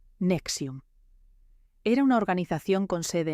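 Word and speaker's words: NXIVM: N X IBM se pronuncia Nexium.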